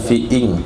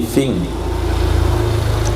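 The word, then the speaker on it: في انقضاء: wanita fingqid Il hiidda bukan fing bacanya bukan fiing tapi fing karena Hamzah wasal n hari ini boleh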